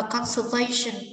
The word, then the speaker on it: conservation: Và conservation, trọng âm số 3, sự bảo tồn.